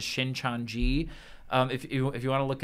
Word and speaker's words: Shincheonji: I believe the pronunciation is Shincheonji.